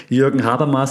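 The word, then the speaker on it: Jürgen Habermas: coin and we talked about him a lot Jurgen haras and yes that's how you pronounce the name trusted German um that has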